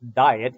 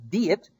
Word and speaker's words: Diet: It's not pronounced diet. It's diet, and diet is a meeting, a parliament, a conference, as it were.